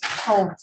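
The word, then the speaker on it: Hove: How do you pronounce it? Hope.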